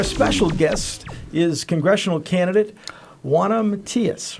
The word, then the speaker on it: Juana Matias: guest is congressional candidate Juana Matias, right? That's I right. don't say it like you do. Pronounce it like I love the Spanish accent.